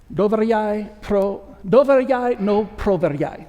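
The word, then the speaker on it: Доверяй, но проверяй: Doveryai no proveryai. That's how you say it in Russian.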